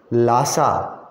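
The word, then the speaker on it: Lhasa: District word छोड़ो, उसके लिए सिटी वर्ड याद रखो कि लासा स्पेलिंग और प्रोनाउंसिएशन अलग अलग हैं, देख लेना, एक एच बीच में है।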